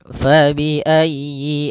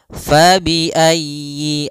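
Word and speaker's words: فَبِأَيِّ: maghribain faayi pada lafal fabiayyi ala di sini usahakan huruf ya-nya ditekan fabiayyi ala faiayyi ayyi kemudian yinya pendek jangan dipanjang jangan Yi A tapi langsung saja fabiayyi ala Kemudian pada lafal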